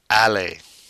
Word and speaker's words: aller: And last but not least, our irregular verb aller. Once again, that ER pronounced A.